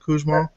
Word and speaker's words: Kuzma: Is that the correct pronunciation, Kuzma? That actually is closer to the true German pronunciation than our family actually uses.